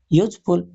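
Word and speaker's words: useful: पहला क्वेश्चन है copper is खाली स्थान यूज़फुल मेटल। यानी कि इसकी स्पेलिंग शुरू तो यू से हो रही है।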